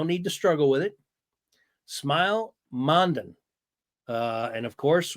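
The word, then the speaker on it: Smael: I don't know how much you've done some research, Matt, but uh it's pronounced Smile. I know that. So, no need to struggle with it. Smile Mondon.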